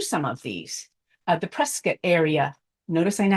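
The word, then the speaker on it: Prescott: can read through some of these uh the presc area notice I know how to say it presc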